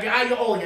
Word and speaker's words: aglio olio: Like aglio olio, that's how you say it in Italian.